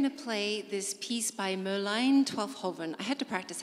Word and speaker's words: Merlijn Twaalfhoven: And so I like to say it as many times as I can, Merlijn Twaalfhoven.